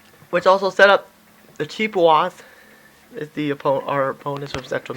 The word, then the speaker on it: Chippewas: Chippewas, okay, that's how you pronounce it.